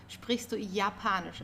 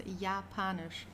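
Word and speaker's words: Japanisch: Don't forget the German yacht is pronounced as like the English Y. So yapanish. Okay. It's not Japan or something. It's yapanish.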